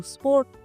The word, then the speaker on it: sport: फेर दू स्पोर्ट। यहाँ पे टी विल बी साइलेंट, ध्यान रखिएगा।